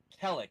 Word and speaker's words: Khellek: doesn't Cleric. It's spelled Khellek. It's almost a palindrome if it wasn't for that dirty H in the middle.